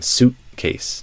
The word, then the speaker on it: suitcase: So I'm not saying suitcase suitcase. I'm saying suitcase with that sudden cut off that sudden stop. Um the e at the end is silent and the a is a face vowel.